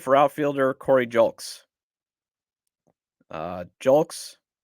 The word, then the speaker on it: Julks: outfielder Cory jul uh julks hopefully I'm pronouncing that right I looked it up and I think it says julks he's 28 comes over from